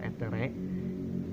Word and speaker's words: aether: Yang pertama ada tinctur aether atau dibacanya tinctur etere.